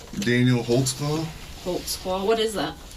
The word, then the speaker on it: Holtzclaw: there cuz I don't even know how to spell it I can how do you say your name Daniel Holtz claw Holtz claw what is that it's a German